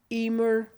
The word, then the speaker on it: Emer: Emer rhymes with it. And then people are like, oh, it's the only foolproof explanation I've been able to give people. Mm-hmm. I'm like, Emer, or as it is phonetically, or get it right. And then I say, Emer like lemur. And they're like, oh, Emer. And they all get it then.